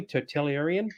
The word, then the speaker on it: totalitarian: Totalitarian?